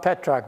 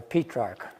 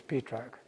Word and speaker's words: Petrarch: wrote about petrarch as books on petrarch not petrock by the way P track is the correct pronunciation correct in the mean in English yeah people say Petra but it's not Patrick it's petrog but he's a terror I know